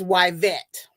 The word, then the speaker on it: Wet: Well, a lot of people would say that isn't it pronounced Eet? She's like, "No, I gave her that name and I pronounced it wet.